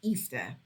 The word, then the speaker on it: Ishtar: was became known as Ishtar which is pronounced Easter um and she claimed